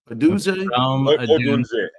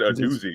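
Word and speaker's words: Odunze: Adunze. Yeah, same thing. That's what Adunze. Adunze. Yeah, pronounce the N, bro. Come on now. You said a doozy like it's a doozy.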